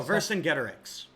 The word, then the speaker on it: Vercingetorix: Oh, Oh, Vercingetorix.